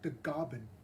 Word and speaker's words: Tagaban: i'm also part filipino my last name tagaban in the philippines is pronounced as the gobin as the goblin and